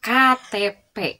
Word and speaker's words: KTP: ya contoh nih KTP bukan Ketep ya tidak dibaca Ketep tapi tetap KTP die Eja ya atau misal contoh lain NKRI bukan Negeri tetap NKRI karena itu Dis e karena itu termasuk singkatan maka dibacanya atau dilafalkannya itu dengan cara dieja NKRI ada yang tahu